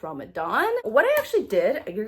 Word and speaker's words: Ramadan: I did do Ramadan, which, okay, first of all, I learned apparently I was saying it wrong. It's not Ramadan, it's Ramadan.